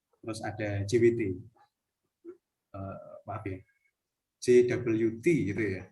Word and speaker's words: JWT: Nah, kalau ngomong masalah autentikasi, ada contoh-contoh seperti OAuth, terus ada JWT, maaf ya, JWT gitu ya bacanya.